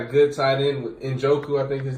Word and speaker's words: Njoku: They got a good tight end with Njoku, I think his name is.